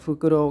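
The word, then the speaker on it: 袋: Đại Fukuro, chữ đại này nó không đọc là đai mà đọc là Fukuro cả các bạn.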